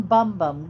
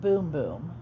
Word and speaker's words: Bum Bum: The name of this moisturizer is Brazilian Bum Bum Cream. But I did find out it's pronounced Boom Boom.